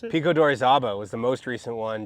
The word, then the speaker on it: Pico de Orizaba: you also mentioned Pico de, how do you pronounce it? Pico d'Orizaba was the most recent one, just in February just now.